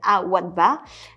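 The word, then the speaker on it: Al Wathba: Deuxième hôtel, alors là plutôt du côté d'Abu Dhabi, qui s'appelle Al-Wadba. Ça s'écrit A-L-W-A-T-H-B-A, qui est constitué de 103 chambres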